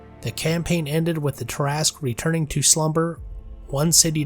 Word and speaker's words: Tarrasque: First, the pronunciation. It's terrasque, not terasque or tasque way.